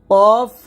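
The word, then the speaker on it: قاف: আগা উপরে দুই দাঁতের আগার সঙ্গে লাগবে এরকম কফ মোটা হবে কাফ পাতলা হবে সবসময় মনে রাখবেন কফ এটা পাল্টা আওয়াজ করে উচ্চারণ করতে হয় কফ আর কাফটা নরমাল ভাবে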